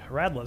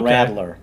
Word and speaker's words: Radler: Oh yeah, you were telling me about the Radler. He says Radler. You say it the German way. Oh yeah. You've Americanized. We've Americanized it. Call it Radler. Radler. That's how it's spelled. Yeah. R-A-D-L-E-R.